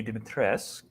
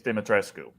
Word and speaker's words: Dimitrescu: explodes into 900 more the game says it's lady dimitress and uh romanians say it's dimitrescu like that's how you would pronounce that oh god no you